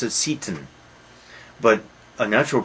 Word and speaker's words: Seyton: Probably we should pronounce it Satan, but a natural pronunciation is Satan.